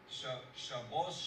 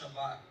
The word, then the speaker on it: Shabbat: Well, for example, an Ashkenazi person will say Shabbos Shabbat, Shabbos for Sabbath. Shabbat is the way we Sephardics use it.